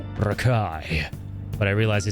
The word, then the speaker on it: Rekoji: For a second I was like, "Did he actually just call me Rakoji?" And it's just the way it's pronounced is Rakai, but I realized he said you're the guy.